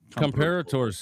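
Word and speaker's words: Comperatore: Comparators, is that how you say it?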